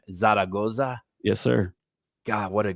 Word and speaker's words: Zaragoza: are looking at Andrew uh I hope I pronounce this right because I'm really excited about your last name Zaragoza yes sir God what a great last name